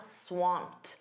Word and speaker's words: swamped: You can also say, "I'm swamped." Notice that pronunciation. That ed d is a soft t.